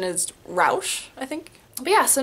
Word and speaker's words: Raasch: Uh, but the name on the cover of my book is Sarah Rash. It's German. It's that's the American pronunciation cuz my family's American and we say it like rash like rash.